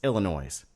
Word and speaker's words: Illinois: this state look foolish there is no such thing as a silent s illinoisians it's Illinois well I actually I